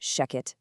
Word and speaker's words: Shechet: And just so you know, that's pronounced Sheckchet AI.